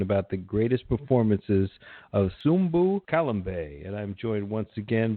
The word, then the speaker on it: Sumbu Kalambay: we are talking about the greatest performances of Zumba Callum Bay and I'm joined once again by one Silva how you doing man hey good afternoon Logan and yes you did say his name correctly subbu Colin Bey born in the Belgian Congo but moved his